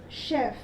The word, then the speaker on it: chef: But how do we pronounce in the first word? We pronounce with the phoneme sh, chef.